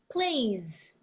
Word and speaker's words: plays: Place, plays. If you say plays, but you pronounce it like place with an S, you are saying a different noun, or vice versa.